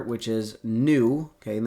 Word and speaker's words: nu: greek letter which is nu okay and this is spelled n n u new like like a new car but just n u not n e w um i guess it